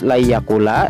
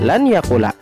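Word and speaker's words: لَنْ يَقُولَ: Membacanya harus la yakula, tidak boleh dibaca lan yakula. sebab nun sukun sudah dimasukkan menjadi satu dengan huruf ya sesudahnya.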